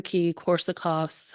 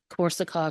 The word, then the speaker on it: Korsakoff: degenerative is uh wari coricos uh syndrome um and I know I'm probably saying it right I think it's actually supposed to be verik corov syndrome so the Ws pronounce is a v uh but corov syndrome